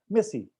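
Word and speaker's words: merci: Maxi, अगर MERCY को अगर हमें बोलना रहेगा तो मैक्सी, मैक्सी बड़ा लंबा हो जाएगा, मेसी। बोकूप, बोकू, राइट? तो उन्होंने इसको साइलेंट कर दिया।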